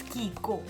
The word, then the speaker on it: Chicco: मुझे ऐसे इट्स CHICCO, तो मैं इसे चीको ही रीड करती थी। फिर मैंने कहीं शायद पढ़ा या किसी ने मुझे बताया, आई डोंट नो, इसकी प्रोनाउंसिएशन मुझे फाइनली पता चली, इट्स कीको।